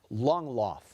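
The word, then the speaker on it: Langlauf: Infinitesimal is spelled I-N-F-I-N-I-T-E-S-I-M-A-L. Victor Chen loves frappuccinos. Victor, your word is longloff.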